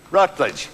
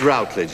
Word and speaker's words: Routledge: Would you please welcome the wonderful Patricia Routledge, pronounced Rutledge. Actually, it's Routledge, isn't it?